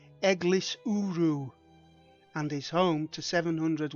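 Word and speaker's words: Eglwyswrw: rain on the way The Village name is pronounced egis uru and is home to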